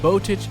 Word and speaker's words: Botic: Botic is spelled B-O-T-I-C.